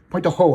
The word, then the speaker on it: Pointe du Hoc: Pointe du Hoc in French, I pronounce it, actually.